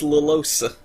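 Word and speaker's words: Llosa: Oh, this is a film by Louis Lalosa. Yeah, you actually do pronounce both L's.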